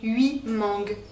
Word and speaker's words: huit: Vous voyez, on ne prononce pas le T final de 8 parce que ce qui suit commence par une consonne. Mangue, 8 mangues.